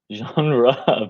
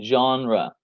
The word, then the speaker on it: genre: genre Van Damme. Yes. So yes, guys, this is how we pronounce it. Genre, you have to channel your inner French accent.